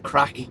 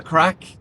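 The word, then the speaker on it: craic: It's about the crack, lads.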